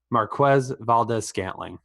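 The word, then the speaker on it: Marquez Valdes-Scantling: Marquez Valdez-Scantling. And you did pronounce it right.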